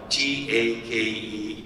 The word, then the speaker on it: Takei: last name is spelled ta ke pop some people mispronounce ad Nathan it's ta ke one take one so I've met that